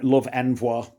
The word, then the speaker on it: Love Envoi: One of the big British hopes, or whatever you want to call it, is Love Envoy, or Love Envoi, I think it's pronounced French.